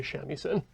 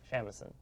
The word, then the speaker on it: shamisen: and then play a shamisen. That's how you pronounce that? Yes. Okay. I, a heathen Westerner, was like, shamisen. So the thing about Japanese is that every syllable is stressed equally, theoretically.